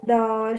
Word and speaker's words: 都: The third character is first tone. What do you do with first tone? With hand. Go high. 两个都是 Do is not, your do is not high.